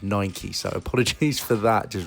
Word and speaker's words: Nike: I know I've been saying Nike the whole time for this video, actually, but I do know in America it's pronounced Nike, so apologies for that, just realised.